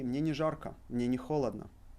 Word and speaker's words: холодно: Мне не холодно. However, Russians would say мне не жарко. Мне не холодно. So they would pronounce it with A.